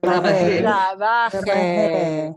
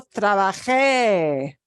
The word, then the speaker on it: trabaje: Trabaje.